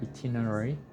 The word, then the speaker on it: itinerary: Itinerary. Close. This sound is I. Itinerary. Itinerary. Itinerary. That is a hard word because it's like itinerary.